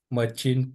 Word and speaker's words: machine: For example, machine translation. Machine. Nó là machine nha. SH.